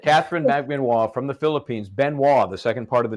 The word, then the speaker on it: Benoit: Benoit, the second part of the name. First of all, it is pronounced like Benwa. Benoit.